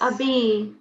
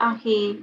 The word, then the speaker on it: أبي: It's Abi, not Ahi.